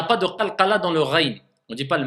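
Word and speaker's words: غين: Maintenant, le même endroit, je sais que c'est du même endroit que sort le rain, mais par contre, attention, je l'écrase un peu, ça me donne le kha. Tout le sens change. Faites attention. Le rain, c'est pas le kha.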